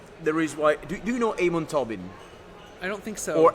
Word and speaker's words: Amon Tobin: For me, there is do you know Amon Tobin? I don't think so. Or actually the correct pronunciation is Amon Tobin, because he's Brazilian.